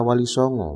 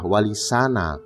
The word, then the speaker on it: Walisana: kata Mahmud atau teruji sehingga pengucapan yang betul adalah wa di sana yang berarti wali-wali yang terpuji bukan Walisongo Hai begitupun menurut Raden tanyo